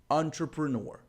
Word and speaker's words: entrepreneur: gente definiu que a primeira e a última sílaba são Tonic então eu gostaria que você anotasse a palavra dessa forma para você e aí fica muito mais fácil de você lembrar que a pronúncia é entrepreneur entrepreneur vamos olhar para mais